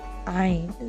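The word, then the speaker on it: ع: As this letter, Ain, sounds like I, you can easily connect the two together. Don't mistake it for an E sounding letter.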